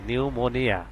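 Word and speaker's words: pneumonia: ইউ, নিউ, এম ও, মো এন আই এ, নিউমোনিয়া। Same একই রকম পি এর উচ্চারণ এখানে আসে নাই, এখানে পি এর উচ্চারণ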